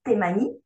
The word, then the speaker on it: Taimani: tes manies en fait on prononce tes manies pas de souci donc de tes